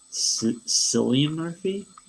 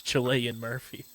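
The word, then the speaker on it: Cillian: mostly British people uh who who say it like if you say like silly Murphy yeah I've seen that I saw somebody say I pronounce it like my Italian ancestors wanted me to it's Chilean Murphy so like I'm I'm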